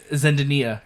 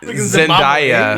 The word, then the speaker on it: Zendaya: She's like Zendaya is MJ or Zen- Zendaya is MJ. Zendaya. Yeah. How did Zendaya, What eh? did you call her? Zendania. I called her Zendaya.